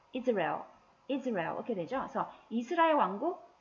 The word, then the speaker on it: Israel: 이 바로 I의 첫 번째 강세가 있고요. Israel. Israel 이렇게 되죠.